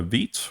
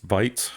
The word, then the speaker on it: Vite: bun start will uh we use vit or is it pronounced Vite I've heard it pronounced a couple different ways but I think vit is the correct pronunciation um uh and you